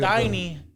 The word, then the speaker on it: Tainy: Tiny isn't spelled Tiny, but it's spelled Tainy. Because So what is Rauw's real name?